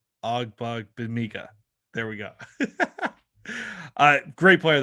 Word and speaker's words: Ogbongbemiga: Great player, not a great name to try to pronounce. Ogbug Bamiga. Ogbug Bamiga.